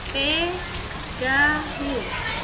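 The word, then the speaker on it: てがみ: Ini bacanya tegami.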